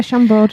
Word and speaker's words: Chambord: They also have the Sailor Delight, Tito's handmade vodka, lemon, and Chambord. I don't know Is what that, that is. did I pronounce that correct? Yeah, Chambord.